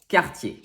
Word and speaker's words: Cartier: a lagiore number six cartier two r's but very different sounds when the word ends with er it makes the sound a that is often found